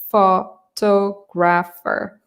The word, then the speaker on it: photographer: it's a long word there are four syllables photo Grapher so the second syllable is pronounced more clearly than the others photographer let's talk about